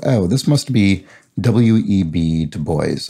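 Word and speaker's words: Du Bois: this must be w-e-b to boys i believe is how it's pronounced and works in the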